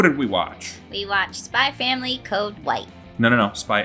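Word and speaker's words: Spy × Family: We watched Spy Family Code White. No. Spy X Family. We pronounced the X, right? No. This is like a Hunter times Hunter situation, right?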